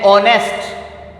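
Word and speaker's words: honest: For example an ऑनेस्ट, इसमें एच जो है वो साइलेंट है, तो ये एन ऑनेस्ट इसको हम पढ़ेंगे तो ये वॉवल की साउंड दे रहा है, लिहाजा इसके साथ भी एन लगेगा।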